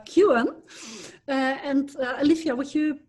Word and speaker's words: Kuin: i just learned that your name is correctly pronounced at least in canada as uh alicia kewan and alicia would you